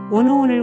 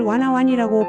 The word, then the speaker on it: 워너원: 볼 수 있고 특히 미스터 트롯을 미스타 트롭 워너원을 와나완이라고 발음하기도 합니다 살면서 유일하게 중독되었던 게임이